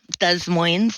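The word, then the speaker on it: Des Moines: Desmosy. They do pronounce the s.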